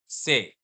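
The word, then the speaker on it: c'est: Same sound रहेगा, से, से, से, और यहाँ पे ईएसटी साइलेंट हो जाएगा, दिख रहा है, लेकिन आप बोलोगे नहीं। Everybody clear?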